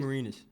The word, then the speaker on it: DeMarinis: Our next question comes from I'm not pronouncing that correctly. DeMarinis. You've got it, DeMarinis.